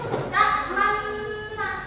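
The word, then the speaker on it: تأمنا: Contohnya di sini yaitu ta'manna. Nah, cara bacanya yaitu ta'manna itu. Pokoknya sekiranya tidak ada suara bunyi. Yang ketiga itu tashil.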